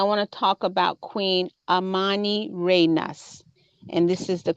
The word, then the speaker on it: Amanirenas: screen, is I want to talk about Queen Amanirenas. And this is the correct pronunciation of her name.